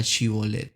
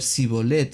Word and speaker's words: Shibolet: ellos le pedían que pronunciara esta palabra Shibolet. Si era de Efraín, pues iba a tener problemas en el léxico, en cómo pronunciar esta palabra, y la iba a pronunciar Sibolet de una manera diferente y con otro significado.